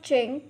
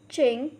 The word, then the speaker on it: jing: The next Pinyin is Jing, has a pronunciation of Ching. Repeat after me, Ching.